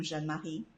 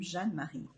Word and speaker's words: Jeanne-Marie: So my name, I think people love the way I pronounce my name, Jeanne-Marie. I was actually meant to be a Jean-Marie, which would be a boy's name. I'm named after my great-grandfather, but I'm Jeanne-Marie.